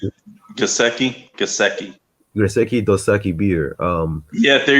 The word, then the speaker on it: Gesicki: How do you pronounce it? Gesicki.